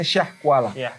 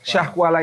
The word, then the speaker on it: Syiah Kuala: Jadi sekarang oleh e ejaan Indonesia itu ditulis Syiah Kuala tapi bukan Syiah ya tapi Syah kita membacanya Syah Kuala Syah Kuala ini daerah di mana